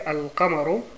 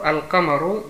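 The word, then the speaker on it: القمر: Also zum Beispiel, dieses Beispiel, Al-Qamaru. Qamar heißt, also Mond. Und das Beispiel dafür, also Al-Qamaru, die Lam wird ausgesprochen. Al-Qamaru.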